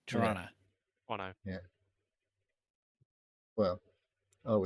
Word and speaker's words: Toronto: Um, there is a thing that says if you really pronounce Toronto the way it should be pronounced, there's no T. You don't hear second T. Toronto.